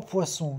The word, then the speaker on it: poissons: 3 poissons, 3 peixes. Não se pronuncia o S final do plural.